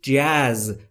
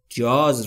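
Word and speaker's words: jazz: نمیاد تو دوست نداری جز نوع سبک موسیقی جاز رو که ما در فارسی بهش میگیم جاز ولی تلفظ درستش جز جز نمیتونم پی ببرم یا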